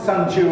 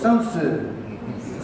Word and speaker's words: Sun Tzu: And it wasn't Sun Tzu at all, it was Sun Tzu.